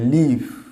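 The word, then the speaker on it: leave: তাহলে এটা কি বলতে পারি, দেখো প্রথম ওয়ার্ডটার উচ্চারণ হবে লিভ, একটু টানটা দিতে হবে, লিভ, একটা লয় দীর্ঘই, লিভ।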